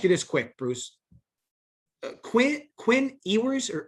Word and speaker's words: Ewers: Quinn Ewers or Ewers, how is it pronounced? Ewers.